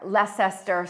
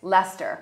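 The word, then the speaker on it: Leicester: pronounce it now but when i first came here lescester square but it's lester yeah grove is a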